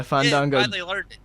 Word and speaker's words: Fandango: he lost the fandango it's fun you gotta say it right man but yeah fun don't go he did get the